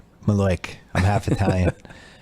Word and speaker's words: malocchio: the malocchio or the maloik as my mom calls it Lord yeah the Italian curse and it's spelled malocchio right but the Italians call it maleic I have to tell